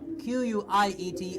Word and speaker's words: quiet: the little difference makes a big difference now qu IET is something that we teachers use very often